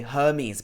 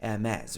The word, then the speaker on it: Hermès: So some people would say Hermes, but this is actually wrong, even if you're speaking English. It should be more like Hermès, right?